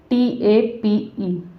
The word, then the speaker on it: tape: अब जैसे यहाँ लिखा है TAPE, एक बात मैं आपको क्लियर कर देती हूँ, जैसे कि यहाँ पे ई लिखा है, इसका उच्चारण यहाँ पे नहीं होगा, यानी कि साइलेंट होता है।